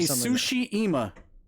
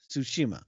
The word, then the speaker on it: Tsushima: Say Tsushima. Oh, okay. Tsushima.